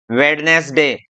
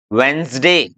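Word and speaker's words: Wednesday: क्या, हैंडसम, है ना, ये वेडनेसडे, ये सैंडविच, तो ये सब गलत है। सही क्या है, इसको बोलेंगे हम क्या, हैंडसम, वेंसडे, सैंडविच, सैंड नहीं सैंडविच, हैंकरचीफ। ओके, अब आगे बढ़ते हैं हम, ई साइलेंट रूल की तरफ।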